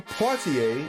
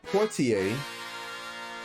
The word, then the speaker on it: Poitier: Please stand by for the Woodbine Poitier. I said it right this time. I didn't put an N in there. Woodbine Poitier scale for black actors.